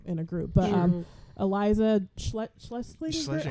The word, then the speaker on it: Schlesinger: But Eliza Schlesinger, how do you say her last name? Schlesinger.